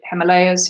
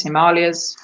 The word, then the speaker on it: Himalayas: Himalayas all the Himalayas over you wish to pronounce it Himalayas Himalayas and the appropriate type